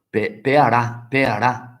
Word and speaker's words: pearà: Pearà, aspetta, la pearà, quindi con l'accento sopra la pearà.